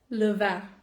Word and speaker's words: le vin: Le vin.